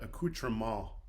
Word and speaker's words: accoutrement: the T is silent, so it's a accoutrement.